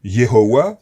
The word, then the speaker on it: Yehovah: Je préfère Yehovah, parce que je pense que c'est plus proche de la prononciation originale, mais un ami m'a